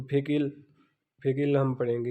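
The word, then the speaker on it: 백: उसके बाद 100 है तो 100 को हम पढ़ते हैं फेक, यानी कि बी एप है, बी एप यहाँ पे फे की आवाज़ देगा, स्टार्ट में आ रहा है।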